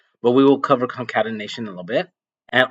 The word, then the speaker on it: concatenation: It's called you pronounce it concatenation.